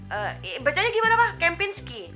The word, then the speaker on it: Kempinski: Itu bacanya gimana? Kempinski.